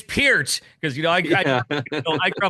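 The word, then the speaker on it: Peart: they're GNA do the one he says Neil per and he says no it's pronounced p and he and and Paul goes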